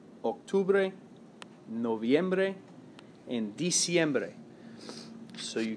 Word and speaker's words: octubre: that's not it septiembre same thing with octubre it's really close to october but it's not october eight octubre right so definitely spelling